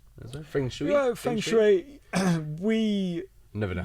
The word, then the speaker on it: feng shui: Yeah, feng shui. we Never know how to pronounce it.